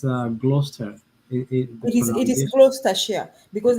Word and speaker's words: Gloucester: oh really but I checked I checked the pronunciation with Google I think uh it it's uh Gloucester it is because it's a share but the